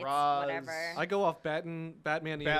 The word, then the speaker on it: Ra's al Ghul: It's Raz. whatever. I go off Batman the animated Batman. series Yeah.